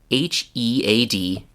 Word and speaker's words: headache: You've probably seen this word in writing, and it's spelled Headache. So people sometimes want to say head-H. It's not head-H, it's headache.